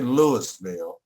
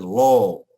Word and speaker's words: Louisville: Now, I didn't say Lewisville. I didn't say Louisville. I said LOL. That's how they say it.